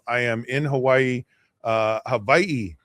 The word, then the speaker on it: Hawaii: Uh, Havi. It's Havi. Uh, that's how the locals say it. And the the W is a V.